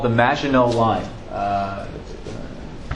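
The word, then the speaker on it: Maginot: Defense on their border with Germany called the magino line uh it's a French term uh it's spelled m a g i n o t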